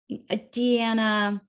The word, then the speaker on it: Deanna: Deanna.